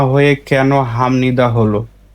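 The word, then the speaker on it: 합니다: উদাহরণ দেখি তাহলে আমাদের ক্লিয়ার হবে স্বাভাবিকভাবে এর উচ্চারণটা কি হতো হাপনিদা হাপনিদা বিউ বাচ্চিনা বসলে প হয় হাপনিদা হতো কিন্তু এর সঠিক উচ্চারণ হচ্ছে হামনিদা কেন হামনিদা বিউ রুলস অনুযায়ী বিউপের পরে এইযে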